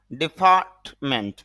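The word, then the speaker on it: deferment: dentist dentist দন্ত চিকিৎসক deny অস্বীকার করা ডিফারমেন্ট যদি আমরা ডিফারট আর এর উচ্চারণ করি হ্যা করব স্বাভাবিকভাবে কিন্তু আইপিএতে উচ্চারণ করলে তখন আর এর উচ্চারণটা থাকে না বিশেষ করে ব্রিটিশ এক্সেন্টে আর কি হ্যা আমেরিকান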